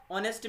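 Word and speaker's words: honesty: चीज ध्यान में रखना ऑनेस्टी में उच्चारण में ओ ए रहा है ह साइलेंट है ठीक है ध्यान रखिएगा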